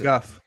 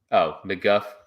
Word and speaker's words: McGough: And it's McGuff. McGuff. Okay. That's weird. McGuff.